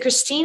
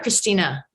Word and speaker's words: Christine: Is it Christine or Christina? Christine, no A. Okay. Yeah, I mean, I knew it was no A, but I thought you had pronounced the E at that end.